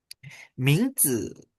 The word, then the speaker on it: 名字: 名字. Nah, ini 名字 ya. 名字 ya. 名字. Kalau misalkan itu 名字 itu ada nama, 字nya tidak ada nada.